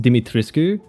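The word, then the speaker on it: Dimitrescu: I believe it's supposed to be pronounced Dimitriscu, but then in in the game she calls herself Dit Tresque cuz she has that line.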